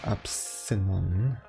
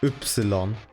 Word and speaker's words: Ypsilon: You don't pronounce it as Epsilon. You mean the German pronunciation of Y, which is Ypsilon.